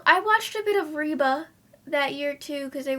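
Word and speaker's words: Reba: Um, oh, I I watched a bit of Reeba that year, too, because they would play Reeba after More Girls. Reeba.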